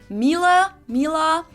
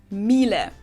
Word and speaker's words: Miele: And it's not exactly pronounced wrong in English, but English native speakers usually say something like Miele. So it usually sounds more like an A in the end, whereas in German we say Miele. Miele.